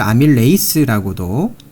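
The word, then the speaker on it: amylase: 자, 아밀라제를 아밀레이스라고도 원어 발음으로는 아밀레이스라고 하고요.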